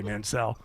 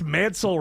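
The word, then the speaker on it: Mansell: man Manel Road and I have to say Mansel around clar he smacks me in the face if I say Manel so say it right it's Mansel Road and uh man but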